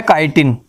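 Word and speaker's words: chitin: तो यहां सेल्यूलोज की नहीं है, यहां जो इसका मेन आंसर है वो है काइटिन। ठीक है, कुछ बच्चे इसको चिटिन भी बोल सकते हैं ताकि आपको स्पेलिंग याद रहे।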